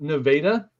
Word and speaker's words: Nevada: And there's a town in Missouri that's spelled the same, but it's pronounced Nevada, Missouri.